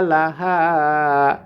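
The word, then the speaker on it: لها: টেনে পড়বো আও হা লাহা হা কণ্ঠনালীর মাঝখান থেকে উচ্চারণ করতে হবে লাহা আর এই হাটি কণ্ঠনালীর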